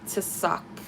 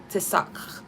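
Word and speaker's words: צלח: pronouncing this word but i think it's um to suck to suck something like that i suck at pronunciation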